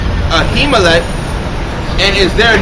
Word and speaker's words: Ahimelech: And David said unto how you pronounce that? Ahimelech. Ahimelech, and is there not here under thine hand spirit of sword Slakia?